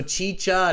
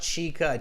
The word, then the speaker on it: chicha: with this okay so chi-cha not chica chicha all right uh so